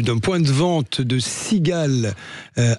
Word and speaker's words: Seagale: Alors ça s'écrit S e A G A L E. Il y a un petit jeu de mots quand même au passage hein. C'est ça exactement. Tout simplement en fait la sigale Toulon comme la marque